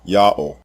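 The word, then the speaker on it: יהו: All four of these spelling forms are pronounced the same way. Yao.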